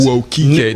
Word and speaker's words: Nwokike: So for those of you who don't know, Nwokike, welcome on. Is that how you say it? Nwokike. The N is silent. Okay, so it'll get you every time. Yes. Okay, so with Nwokike, welcome on the show, man.